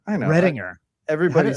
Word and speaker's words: Readinger: Redinger. I know. Redinger. Everybody says it. I don't really care, but I think we just want to pronounce the G as a J because it's, it's like Berenstein and Berenstain.